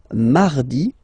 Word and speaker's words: mardi: Then mardi, mardi. So you can hear that you don't pronounce it that strongly, this R.